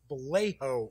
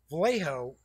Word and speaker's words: Vallejo: So we go, and some company had gotten Julie Bell and Boris it's Vallejo, I think is how it's pronounced.